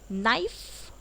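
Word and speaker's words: knife: Okay, अब आता है के वर्ड साइलेंट, ये तो बहुत ही इजी है। नी यानी कि घुटने, नॉट मतलब मतलब कि गांठ, नाइफ मतलब चाकू, नाव मतलब नो मतलब जानना, नॉक मतलब दस्तक देना।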